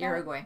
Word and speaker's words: Uruguay: Uruguay.